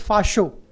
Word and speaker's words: fascio: comes from Fast CCO which is pronounced as fascio f-a-s-h-o as a pronouncement written